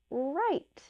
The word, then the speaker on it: write: here's some examples so some words are written with W but they only really make the r r sound the example picture there is write if you're writing you